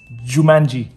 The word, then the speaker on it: Jumanji: Nó phát âm là Jumanji nha các bạn. Jumanji.